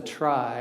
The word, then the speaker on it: trie: about trees so a tree is a special kind of a dag and the name comes from the word retrieval just the middle of that and the chronic correct